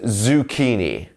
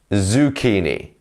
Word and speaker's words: zucchini: be understood sorry in British English um is zukini zukini great job here so I'll write that down